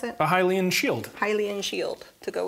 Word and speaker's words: Hylian: Someone in the chat says you need what is it, the Highland? Is it how you pronounce it? A Hylian shield.